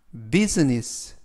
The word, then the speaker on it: business: 되겠습니다 이번 표현은 bussiness business buess라고 발음하시면 되겠고요 이때 유의하실 점은 I 알파벳 아가 무음이라 발음이 되지 않습니다 그리고 S 발음이 스 발음이 아니라 즈 그래서라고음 면 품사는 명사